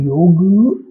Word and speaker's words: योग: Language का pattern है, उसमें योग बोलना शायद प्रोनंसिएशन में उतना रिदम ना लाए या उनके लिए ये प्रोनाउंस करना उतना ईज़ी ना हो। तो इसलिए वो किसी भी चीज़ को ईज़ी बनाने के लिए उसके पीछे ए लगा देते हैं। जैसे योग बन गया योगा, ऐसे ही हमारे महान